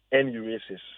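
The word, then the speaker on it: enuresis: The medical term that we use is actually called nurasis. So it is spelled e n u r e s i s n urasis.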